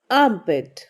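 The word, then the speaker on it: arm: Underarms, underarms या फिर आर्मपिट, आर्मपिट. Next है बाह या फिर भुजा, इसे इंग्लिश में कहते हैं आर्म, आर्म. यहाँ पर आर जो है वो साइलेंट रहेगा.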